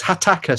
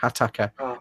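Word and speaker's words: Hataka: can't remember oh is hitaka sorry I pronounced it wrong Attica Katy aka attack acrylic paints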